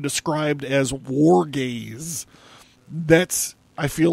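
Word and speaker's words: Wargaze: rock band that creates the sound described as war gaze that's I feel like I should spell it w AR g a z e war gaze so check them out check out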